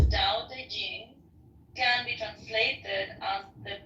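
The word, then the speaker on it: Tao Te Ching: is his best reward da Ching pronounced more or less da Jing can be translated as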